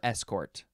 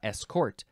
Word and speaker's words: escort: 1708 now this one you can pronounce this escort escort or escort you can emphasize either syllable and the first syllable is is or S uh escort that's how well that